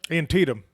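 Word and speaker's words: Antietam: Antennum Creek. Is that how you say it? Antidum.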